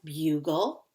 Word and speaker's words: bugle: The E is silent, doesn't make any sound, and this is an LE syllable.